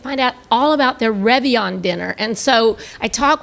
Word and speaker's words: Réveillon: But y'all have this Réveillon dinner.